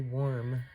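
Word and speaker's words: worm: During this full moon phase, it is the warm moon, W-O-R-M, but it also rhymes with W-A-R-M, so take that as it resonates for you.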